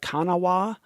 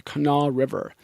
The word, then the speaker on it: Kanawha: how they say it it looks like Kanawa to the rest of us ka na WH a but I think this I think they pronounce it the canal River now one for a